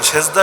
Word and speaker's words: সেজদা: অথচ আরে জিজ্ঞাসা করেন সেজদা এটা কোন ভাষার শব্দ? বলতে তো পারবে না মূর্খ, তাও যদি বেশি পারে তাহলে বলবে এটা আরবি শব্দ, যদিও মূল উচ্চারণ হলো সাজদা, বাংলায় এসে হয়ে গেছে সেজদা।